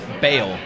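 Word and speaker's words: Bael: How do you pronounce this? Bale.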